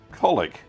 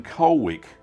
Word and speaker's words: Colwick: Colwick, as locals will be quick to point out, should be pronounced Colwick, C-O-L''ICK, rather than Colwick or Colwick.